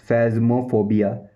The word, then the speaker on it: phasmophobia: और इसका जो प्रोफेशनल इंग्लिश लैंग्वेज में आप बोलते हो फैज़मो, फैज़मो, फैज़मो, फैज़मो, फैज़मोफोबिया, फैज़मोफोबिया, फैज़मोफोबिया, फैज़मोफोबिया, फैज़मोफोबिया, फैज़मोफोबिया। इसकी स्पेलिंग है PHASMO, PHASMOPHOBIA।